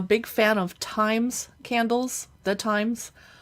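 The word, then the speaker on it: Thymes: fan of Times Candles the times it's spelled t-h-y-m-e-s but they're really expensive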